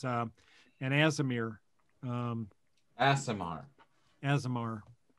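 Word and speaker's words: Aasimar: an azomir um asimar azamar is that how you say it yeah asmr and uh so i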